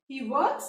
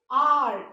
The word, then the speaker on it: hour: आ, है ना, आर। इसको हावर तो नहीं बोलते, ह का साउंड नहीं आता, आर बोलते हैं, इसीलिए इसके आगे क्या आएगा?